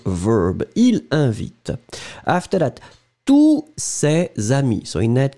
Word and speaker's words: tous: And you don't pronounce the final S.